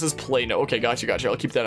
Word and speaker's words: Plano: But yeah, and that's pronounced as Plano.